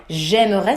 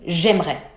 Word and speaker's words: j'aimerais: J'aimerais. We completely eat the E in the middle.